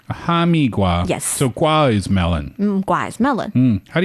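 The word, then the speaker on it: 哈密瓜: Hamigiua. A hamigua.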